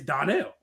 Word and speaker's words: Donnell: But there's no R in his name. I know, but some people pronounce it that way, you know. There's no A or R. I get there's no A or R, but I get the da. But yeah, I mean it's Donnell. I don't know.